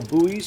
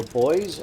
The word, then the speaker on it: buoys: And you can see there's a line of yellow buoys or buoys on the horizon, depending on how you pronounce the word in your location.